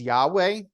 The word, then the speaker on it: Yahweh: so so the way it the name is pronounced we would say is Yahweh that's the that's the proper name but if